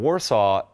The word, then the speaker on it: Warsaw: So we pronounce it Warsaw. I don't know why. It's nothing like they pronounce it in Warsaw.